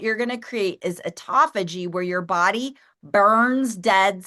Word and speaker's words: autophagy: Autophagy.